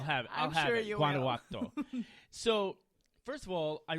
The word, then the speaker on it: Guanajuato: So that you say a hard G in the beginning? No, just think about Guanajuato.